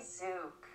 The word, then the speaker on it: Tzuke: it I got it Judy zook zuk okay so I am way off okay Judy zuk I apologize but let's